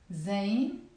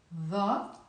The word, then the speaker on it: ظ: Alif, B, T, F, Jim, Ha, Kha, Dal, Val, Ra, Zain, Sin, Shin, Sad, Dad, Ta, Dha. In the Lebanese accent we pronounce it Za.